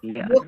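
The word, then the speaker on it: yolk: আচ্ছা, ইয়ক, ইয়ক কোনটাকে বলা হয়? ইয়ক, এল এর উচ্চারণ হবে না, ইয়ক।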